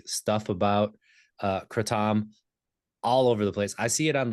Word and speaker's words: kratom: It's technically kratom. Okay, Um, kratom. that's how it's said in Southeast Asia. I'm still probably getting it wrong, but it's closer to that. And of course, we've Americanized it into kratom, like the Yeah. most American pronunciation possible. So I say kratom, which is sort of an in between.